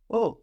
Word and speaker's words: au: To the village isn't à le village, but au village. Au village. Au village. Something very strange happens here. A and le become AU, which is pronounced like oh, oh.